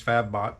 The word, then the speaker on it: Fabbot: watching fat bots and i was saying it wrong it's fab bot not fabit but fab bots video